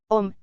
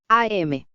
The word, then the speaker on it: Om: Es un sonido que se puede escribir y pronunciar como Om, o, AM.